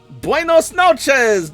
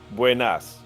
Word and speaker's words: buenas: Um, buenos diego. Close. Buenas.